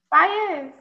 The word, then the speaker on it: Faiyaz: Faiyaz.